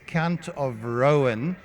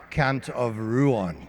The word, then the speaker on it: Count of Rouen: He got him ready and uh and Roslin says he's Count of Rowan, not Count of Ruan. Okay, we'll argue with Google, too.